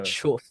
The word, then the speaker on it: choof: Yeah, We have a band the called Chuff here who really sick and do that, and it's I love it every time. I'm keen. say the So band it's name again. I want to a know. Chuff, which is an Australian word for weed.